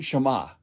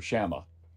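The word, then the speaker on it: Schama: so your Jewish shot Simon Shema or shama depending on how you pronounce it it's a British historian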